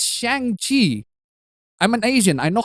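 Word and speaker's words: Shang-Chi: club but even lamer you don't say shanghi as shanxi i said it's shang chi i'm an asian i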